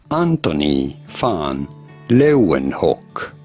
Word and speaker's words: Antony van Leeuwenhoek: Let's hear how a Dutch scholar would pronounce it. Antony van Leeuwenhoek.